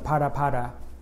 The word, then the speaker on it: Phala Phala: next phase for president Cyril ramaphosa's crisis The parapara Saga and yes that's how you pronounce it right let's get going spread